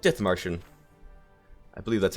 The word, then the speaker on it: Dithmarschen: However, this series today is going to be playing as a tiny little nation, Germany, called Dithmarschen. I believe that's how yeah, okay, that's how you pronounce it.